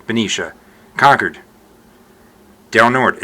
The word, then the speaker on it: Benicia: So there's Benicia, not Benicia, Benicia.